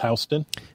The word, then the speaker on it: Houston: So like the word that's spelled like Houston, pronounced Houston.